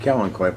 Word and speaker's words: Kalanchoe: spelled with a K looks like Kalanchoe spells out but it's actually pronounced Kellen koi look at the flower